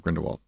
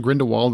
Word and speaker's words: Grindelwald: It's not Grindelwald, it's Grindelwald. That's how they say it. I don't know why they say it like that, but they say it like Grindelwald, like Volt, like we're French or something. Or German.